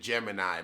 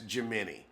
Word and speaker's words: Gemini: Now she wants to pronounce it Gemini, but no, honey, that's Gemini.